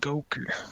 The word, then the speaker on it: Goker: Well, I saw somebody in the chat said my guy should be called Goker. That's pretty good. A hard G. Hard G and everything.